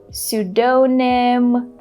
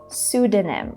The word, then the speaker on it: pseudonym: A lot of people say pseudonym, pseudonym, but in this word we don't pronounce the P letter at all, so we have to say pseudonym.